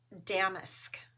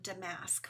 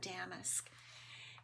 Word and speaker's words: damask: to pronounce this, and it's damask. It's not damask, which is what I thought it was, but it's damask.